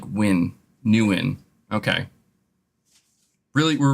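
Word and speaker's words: Nguyen: quick now somebody's saying it's not pronounced newn it's just pronounced win are you sure like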